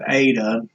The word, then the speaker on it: eta: Of course, now we have eta. It has a subscript here, and it's like that E in the word they, a long A sound.